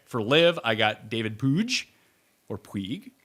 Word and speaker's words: Puig: I believe it's Puig, which is just insane. I thought it was like a joke when someone said that, but apparently that's how you pronounce his last name.